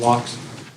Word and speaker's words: Laux: You said it right last time, Lux.